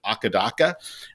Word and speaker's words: AC/DC: So it was kind of like AC/DC in Australia. They call them Akadaka.